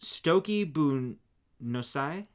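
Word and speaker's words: Stoca Bunúsach: It's pronounced Stoki Bunosai. I can't with you. It just means basic sock in Irish. See, it tells you like how to pronounce it there. Okay. Stoki Bu Nusa.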